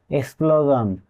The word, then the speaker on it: explosion: এর উচ্চারণ হয়েছে ঝন এক্সক্লোজন এখানে এস এর আগে ও এবং তার পাশে এল আছে এই কারণে এর উচ্চারণ হছে জন কনক্লুজন এ ওয়ার্ডটিতেও এস